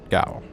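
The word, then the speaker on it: gaol: or you'll be taken by force to the gal the what yeah g-a-o-l it's like oh I first pronounced jail it is pronounced jail which one was she kind of yeah which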